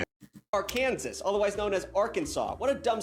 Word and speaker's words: Arkansas: But why is Arkansas Arkansas and not our Kansas? Like I want to call it our Kansas every freaking time, but I know it's freaking Arkansas.